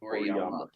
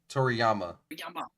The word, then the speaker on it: Toriyama: If you go to the tab to the right, Oh, so Akira Toriyama. Is that how you pronounce it? Toriyama. Toriyama.